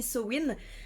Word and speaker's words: Samhain: Samhain, donc voilà, Samhain, ce qui s'écrit sa main, ça se dit Samhain, parce que pourquoi est-ce qu'on prononcerait comme ça s'écrit? Le gaélique, c'est ça en fait. C'est des lettres qui ne se prononcent pas du tout normalement.